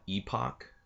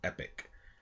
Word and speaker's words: Epoch: like to call it epoc that's how i originally pronounced it but it is actually pronounced epic as if it was a i and a c so first off i